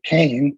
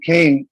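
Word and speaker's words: Kean: reliable book by a journalist named leslie kane that's spelled k-e-a-n and um if lily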